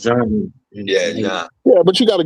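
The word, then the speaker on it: Jean: If it was in Haiti, it would have been pronounced John. Like Gene is pronounced John. Yeah, but you got to go with the flow. Yeah, Wyclef Gene.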